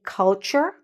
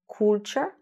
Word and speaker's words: culture: Say culture, not culture.